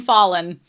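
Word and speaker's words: Falin: I've also been told that you pronounce her name Fallen.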